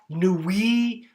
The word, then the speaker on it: Nuits: And here you can see Chablis, Nuits, Mâconnais, you don't say the S, but you put the E at the end, Chalonnaise, and the S gets pronounced.